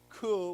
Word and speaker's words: coup: English is kind of weird because, you know, we have words like coup where we don't pronounce the P, and then we have